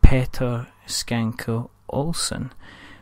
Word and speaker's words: Petter Schanke Olsen: tompa games and the gentleman behind all is Petter skanky Olson so hello better hello you managed to say